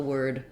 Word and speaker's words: word: you think about the word were when you're looking at o r words uh for example words like word you can think of that as being were plus a D sound or work you can